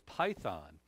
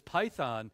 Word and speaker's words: python: And that word divination in the Greek there is python, as we would pronounce it.